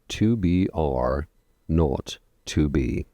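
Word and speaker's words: 2BR02B: The 0 in the telephone number he pronounced naught. The number was 2BR naught 2B.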